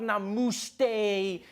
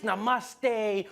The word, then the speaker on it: namaste: People were coming on like, dude, it's not namuste, it's namaste.